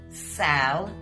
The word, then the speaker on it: salivating: Salivating's got four syllables, guys. Sal-er-va-ting.